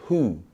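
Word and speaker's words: Hu: meaning the word who is spelled h u even though we spell it in English as wh ho but phonetically it's more about the sound and the tone when you say who right you're literally talking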